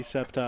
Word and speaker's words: Sceptile: Yeah, it's silent, definitely septile. silent C? No, it's SC. Like it makes like No, this. but the C is silent.